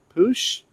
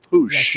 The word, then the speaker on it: Puig: a question about, and we're going with Ricky Push?